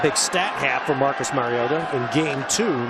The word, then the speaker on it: Mariota: and that's how he said his name is pronounced Mariota he went to the same High School in